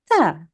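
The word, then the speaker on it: ت: Okay, as opposed to this sound, which is a soft, smiley sound. You make a smile with your mouth and you say ta, ta.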